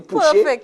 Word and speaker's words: Pouchet: Did I pronounce that properly? Pouchet?